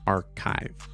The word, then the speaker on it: arXiv: And it's ARXIV, but the X is chai, right? So it's pronounced archive, right?